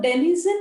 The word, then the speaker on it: denizen: to explain next denison so denison is something which is rhyming with the word called as citizen then is in citizen